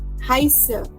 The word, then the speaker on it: heiße: we can say Ich heiße. Ich heiße. Why are we saying heiße now? Because of the SZ. Remember, SZ gives the sound of double S.